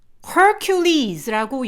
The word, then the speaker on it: Hercules: 화살로 그 독수리를 쏴서 죽이고, 요 이름이요, Hercules라고 영어로는 발음을 하고요. 그리고 헤라클레스라고 써있는 그 괄호 안의 표기는 그리스어식 표기예요.